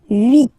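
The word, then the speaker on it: huit: And here, final T is pronounced, so 8. 8. Remember in French, this H letter here, okay, doesn't exist phonetically, so we don't really pronounce it. Okay, so if you listen carefully, you will only listen or hear these vowels at the beginning of the word. 8. 8.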